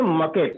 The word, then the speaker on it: market: इसको पढ़ते हैं मकेट। क्या मकेट। पढ़ते हैं? मकेट पढ़ते हैं, क्योंकि आर जो है ना वो साइलेंट होता है यहाँ पर।